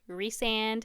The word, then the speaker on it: Rhysand: Rhys, so Rysand, Rysand, Rhysand. I think it is Rhysand because I remember seeing the phonetic, I don't know, pronunciation of the name.